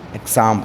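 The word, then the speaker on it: exam: या examination clear है एक्स के दो फोनिक साउंड है पहला है आपका एक्स एंड the second one is your ज ज ओके ज एग्जांपल एंड एग्जाम य पे आपका देखिए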